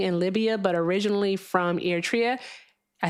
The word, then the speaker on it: Eritrea: She's our friend that is currently in Libya, but originally from Eritrea.